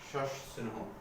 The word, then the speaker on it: সস্নেহ: এর উচ্চারণটা একটু ব্যতিক্রম। বলছিলাম দন্তের সাথে ত থ ন র থাকে তার উচ্চারণ হবে এস এর মতো, কিন্তু শুধু দন্তের সাথে থাকলে তার উচ্চারণ সবসময় তাহলে বর্ষ হবে। সস্নেহ উচ্চারণ হবে সস্নেহ, সস্নেহ উচ্চারণ।